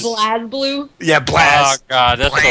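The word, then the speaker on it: BlazBlue: such like that but every time I hear anybody say blah blue I want to strangle them oh my God pleas Blas blue yeah blast God BL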